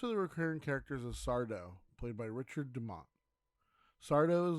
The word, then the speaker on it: Sardo: Sardo. He would then get irritated and exclaim, "That's Sardo, no Mr. Accent on the dough."